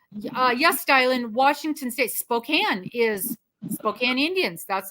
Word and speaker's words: Spokane: and they go and your address is in Spokane I said no it is Spokane and you do well to to pronounce that correctly and we feel the